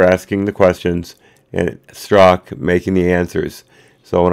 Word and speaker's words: Strzok: record straight on that struck is the correct pronunciation and I've been saying